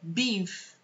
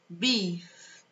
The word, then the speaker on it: beef: A pronúncia é beef. Beef.